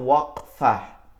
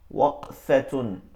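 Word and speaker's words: وقفة: ওয়াকফ, অনেকে ওয়াকফ বলে, এটা মারাত্মক ভুল। এটার উচ্চারণটা হচ্ছে ওয়াকফাহ, ওয়াকফাতুন।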